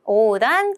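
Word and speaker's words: 横断: 여러분 횡. 어때요? 발음하기 어렵죠? 그러면 장음이 아마 있을 확률이 높은데요. 자, 골라보시면 맞습니다. 바로 오단이라고 하게 됩니다. 뒤에는 우리도 단이니까 똑같이 단이라고 읽고요. 앞에만 좀 신경 쓰셨으면 됐을 것 같아요.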